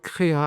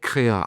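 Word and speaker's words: Krea: tout de suite sur créa avec flux donc là je suis sur l'agrégate CRA CREA a ça s'écrit k r e a et donc dans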